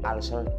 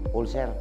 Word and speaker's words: ulcer: taas ang acid at ang tamang pronunciation po ulcer pero doun sa pipinas ang tawag niyo ulser Sabihin mo nga ngayon